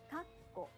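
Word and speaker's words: 括弧: Kakko, parenthesis. Kakko, kakko. Again, the pause needs to take one clap. Kakko. But Japanese learners often omit the pause.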